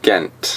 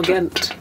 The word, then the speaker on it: Ghent: So, another place we want to talk to you about is Ghent. Ghent. So, it's spelled G-H-E-N-T.